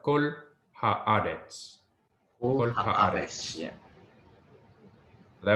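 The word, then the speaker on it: כָּל: Will be What's pronounced kol.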